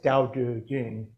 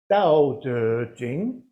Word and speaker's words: Dao De Jing: But of course, it's not pronounced either way. So the closest they do now is Dao De Jing. And it's actually Dao De Jing.